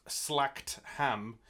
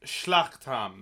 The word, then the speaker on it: Schlachtham: You may think that it's pronounced slacked ham. It's not. It's Schlachtham.